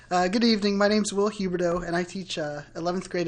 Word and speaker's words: Huberdeau: So the next speaker is William Huberdeau. You pronounced that pretty well. Nice job. Good evening. My name's Will Huberdeau, and I teach 11th grade English at Warwick High School.